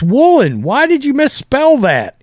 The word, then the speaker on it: Woolen: Is it Woolen or Wooden? They're saying it's Woolen.